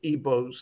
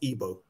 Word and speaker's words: Igbo: big ethnic groups yorubas eboz that's pronounced ebo even i know there's a g there please pronounce ebo europa's